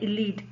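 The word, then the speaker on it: ylide: तो हम जैसे इसका प्रोनाउंस करते हैं इलीड, इसका नाम है इलीड।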